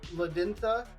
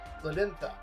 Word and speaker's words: Ladenia: Is the D in your name a hard D, or is it like the Spanish D, which is pronounced kind of like a TH? So instead of Ladintha, it's Ladintha.